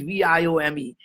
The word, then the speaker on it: Viome: you know or not indians cannot pronounce the word we right so why would you start a company that you can't pronounce i just fell in love with the name because why the vie stands for life and omics is science as science of life so anyway wyoming is viome what we're doing here